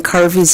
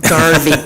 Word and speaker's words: Carvey: There are like hardly any Carveys in this world, and people always get my name wrong. Garvey, Carney. I once was called Miss Gravy by a group of, yeah, so. Anyway, my name is Carvey, and I am the